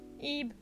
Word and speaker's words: Ib: Ebe. Ebe? Ebe, you say? Yep. Spelled with B.